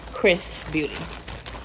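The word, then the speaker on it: XRS Beauty: doesn't stand a chance when it comes to chris beauty so i know y'all were kind of wondering chris is xrs but it's pronounced chris beauty okay so this is actually our third time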